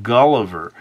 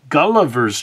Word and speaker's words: Gulliver: roll so well is the three syllables of guliver uh with the stress falling falling on the first syllable guler's tra travels it